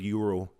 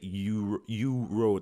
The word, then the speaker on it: euro: That's the funny thing about in Slovak when they say the word euro. We just say euro. They say euro because they pronounce the E and the U, so it's euro.